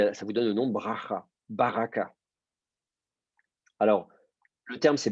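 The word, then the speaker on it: ברכה: Donc, on ne dit pas baraka, on dit baracha. Et par ailleurs, le premier A sous le bet va tomber parce que c'est l'antéprétonique.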